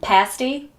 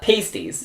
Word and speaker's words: pasty: Pumpkin pasty, yeah. Not pasties. Not pasties. That's the wrong way.